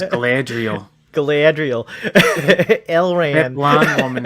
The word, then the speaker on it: Galadriel: That is actually the proper pronunciation. Galadriel. Everybody just says Galadriel.